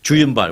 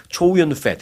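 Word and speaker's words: Chow Yun-fat: 그런데 이제 그게 이제 한국식으로 발음을 해서 그렇죠. 그런데 미국에서는 초윤이라고 하죠. 초윤. 네. 거기서 이름에 펫이 들어가서 좀 그렇긴 합니다만은 초윤 펫.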